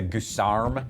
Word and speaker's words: guisarme: I like the fact that it has a guisarme instead of the standard halberd. We like to pronounce that Guisarm.